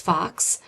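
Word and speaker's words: falx: form these structures so that word f a LX is pronounced Fox so the fox cerebri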